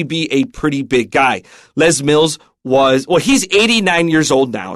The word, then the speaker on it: Les Mills: So Les, you might think it's Les because it could be short for Lester, but they pronounce it Les Mills.